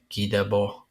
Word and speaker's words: Guy Debord: It looks like Guy Debord, but pronounced Guy Debord in French, and he's like a like a